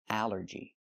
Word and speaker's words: allergy: But here it makes the a sound. The short a like an apple and black. A allergy. It's three syllables. Allergy. The stress is on the first syllable.